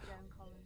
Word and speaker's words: Joan Collins: Joan Collins, by the way, that's how you pronounce it.